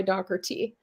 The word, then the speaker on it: Dougherty: So we actually go by Dougherty. Just like Dougherty.